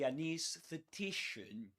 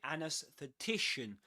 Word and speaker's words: anesthetician: Um, another pronunciation is an anesthetician. You can say anusthetician or anthetician. You can say both.